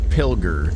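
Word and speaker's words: Pilger: Pilgar, that's how you say it.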